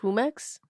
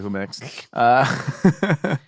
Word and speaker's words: Jumex: Is it pronounced Jumex? Yeah, maybe it's probably Jumex.